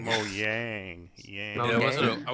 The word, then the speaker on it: Mojang: Just like how you can now pronounce Mohang. Yeah, Mohang. Mojang. Mo Yang.